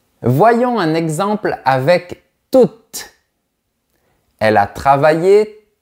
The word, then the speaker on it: toute: Donc, au féminin, on prononcera toujours le T. Voilà un autre exemple. Je voudrais rester toute une nuit avec toi.